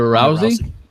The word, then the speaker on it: Rousey: Ronda rusey what Ronda Rousey ruy how you pronounce her name Ronda Rousey yeah yeah that's correct oh my God